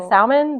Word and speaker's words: salmon: Because the it's a Latin word that went through the Angloorman French era. So the L would have had like a more a softer sound.